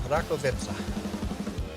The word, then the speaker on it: Rakovica: up r v ROV vitza that was close ROV vitza got our ROV vitza tractor here doing some beat harvesting I'll do